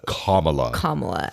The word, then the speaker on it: Kamala: That's that pronunciation was for you, Eric. Kamala.